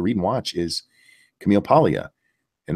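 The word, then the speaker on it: Paglia: and watch is Camille Pia and that's spelled with the G guys p a LG a um but the G silent she is a hardcore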